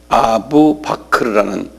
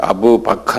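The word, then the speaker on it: أبو بكر: 아부 바크르라는 사람이에요. 이분이 이 모하멧의 아주 오른팔 했던 사람인데 아부 바크르 한번 발음해 보실래요?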